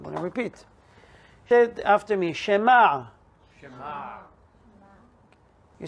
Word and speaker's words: Shema: say it i'm going to repeat after me shema you say it sounds like either with hey